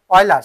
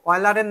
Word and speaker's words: Euler: ওলজার না কি জানো, অয়লার, সরি, এনার নাম হচ্ছে অয়লার। তো অয়লারের নাম মনে রাখার কৌশল ULER, কিন্তু বানানে এমন আছে EULER, অয়লার, কিন্তু উচ্চারণ কি অয়লার।